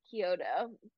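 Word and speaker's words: Chiodo: by the way um it is Kyoto um I don't know if I did coyote earlier but whatever um he's the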